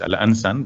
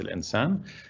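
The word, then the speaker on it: الإنسان: This is alif al-khanjariyi, they call it, so it's al-ansan, but it's pronounced al-insan.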